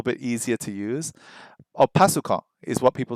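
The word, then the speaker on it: パソコン: But if you say PC, like the Japanese pronunciation, that it's a little bit easier to use. Or pasukon is what people say right now.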